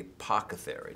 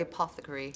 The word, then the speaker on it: apothecary: to deservedly to the apocary. Am I pronouncing the word right? The apothecary. Apothecary.